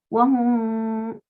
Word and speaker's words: wahum: bimu'minin, cuando leamos hum, esa mim que salga por la nariz, con la boca no hacemos nada. Wahum, un sonido extraño que sale solo por la nariz.